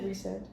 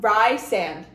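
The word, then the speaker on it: Rhysand: were like mates cuz did you pronounce it reand or Ry sand or rise sand reand okay cuz a lot of people me includ it I'm dyslexic um I was like rice sand rice sand well I I think I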